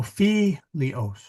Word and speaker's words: filios: So here is, so where's the accent on this one? It is on the filios, because here's OS is the first syllable. Accent's never there. You go one in front of it. Well, that's a short I. There's no macron on it. So you got to go to the third syllable, and you see that that's where it is.